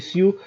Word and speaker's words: Sioux: Sioux, tak, Sioux, S-O-X się pisze, a czyta się Sioux.